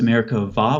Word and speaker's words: Merkabah: It's spelled with a B-A-H at the end most of the time, but the B in Hebrew doesn't have something called a dagesh. So it's pronounced Merkavah with a V sound.